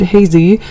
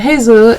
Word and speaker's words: Hezi: can start on the Hezi, or as I mispronounce it, Hezi, but the Hezi is actually something that goes with the chin for the root chin of this.